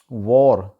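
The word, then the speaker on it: war: एक है वॉर, जंग जो होती है, तो इसको वहाँ पे वार बोला जाता है, वार, जबकि इसका एक्चुअल जो गोरों वाला प्रोनाउंसिएशन तलफ़ुज़ है वो है वॉर, वॉर।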